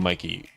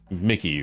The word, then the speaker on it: Mickey: There's a Disney character, a mouse character named Mikey. No, no, it's not. I kept saying Mikey. Mickey, right? I keep saying Mikey and then Marie sent me the It's like, please look it up.